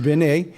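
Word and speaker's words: בִּין: leave look at that strong's 995 is benny which pronounced ben a now that's very important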